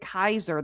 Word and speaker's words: Caesar: Apparently, the Romans would have pronounced it Kaiser.